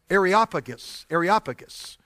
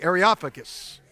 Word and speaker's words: Areopagus: Areopagus. Y'all say that with me. Areopagus.